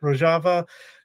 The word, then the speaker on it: Rojava: it wrong again no I said it right rojava Kurdistan the Kurdish women's movement I mean Democratic